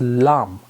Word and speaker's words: Lam: for this root chakra which is called as Lam l a m but you pronounce it as a l l a u